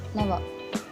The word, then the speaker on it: Navarre: You should pronounce like this, Navarre.